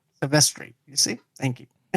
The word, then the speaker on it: Silvestri: Silvestri. You see? Thank you. Silvestri.